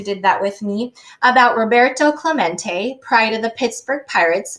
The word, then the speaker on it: Roberto Clemente: through his spanish name rob uh row burt um let's see toe claw mate it echoed in the near empty stands roberto clemente was his name and this is pronounced roberto clemente as if to introduce